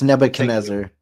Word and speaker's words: Nebuchadnezzar: It's Nebuchadnezzar.